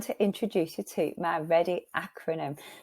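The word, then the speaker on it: Reddy: I hope those were useful and finally I'm going to introduce you to my ready acronym my surname is ready but it's spelled r-e-d-d-y this is spelled r-e-a-d-y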